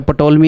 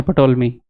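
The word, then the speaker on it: Ptolemy: एक मैथमेटिशियन था उसका नाम है पटोलमी। अब मान लो किसी का नाम ऐसा रखा है जिसमें पी साइलेंट है।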